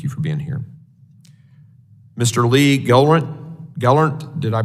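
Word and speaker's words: Lee Gelernt: United States thank you for being here Mr Lee Gant Gall did I pronounce that correctly sir thank yes thank you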